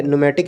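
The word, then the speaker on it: pneumatic: और इस वाला वर्ड में पूछा गया था कि इसमें कौन से जो लेटर है वो साइलेंट है। तो यहाँ पे देखो, यहाँ पे न्यूमेटिक इसको पढ़ते हैं, ठीक ना।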